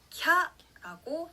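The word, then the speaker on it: きゃ: 하지만 야를 작게 요음으로 썼을 때는요. 이걸 한 글자로 봐서 캬라고 한음절로 발음합니다.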